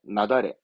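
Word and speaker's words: 雪崩: 눈사태, 나다래. 한자 보면 알겠죠? 눈이 무너진 거니까. 그래서 발음은 나다래.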